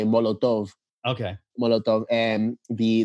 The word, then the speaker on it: Molotov: called Molotov, like a Molotov cocktail. Yeah. Like a Molotov That's what I was just cocktail. gonna say, yeah. But they pronounce it in a Spanish way, Molotov.